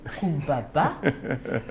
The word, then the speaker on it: Coumba Ba: Et puis il le prononce bien. Kumbaba.